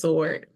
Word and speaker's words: sword: I think the W I think the W is silent I think it's just sword oh yes that's what